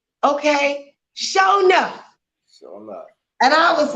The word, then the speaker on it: Shonuff: I mean, they was breaking it down in syllables. Sure He was like, SHONUFF. Wow. Yeah. And that's me, SHONUFF.